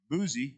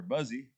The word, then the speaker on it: Buzi: was the son of buzi or buzzy and i pronounced that b-u-z-i and he was a